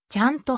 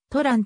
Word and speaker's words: Trần: ベトナム難民であると卵はベトナム語ではちゃんと発音するが日本のメディアでは英語表記をアルファベット読みしたとらんと表記されるサンディエゴのウェストビュー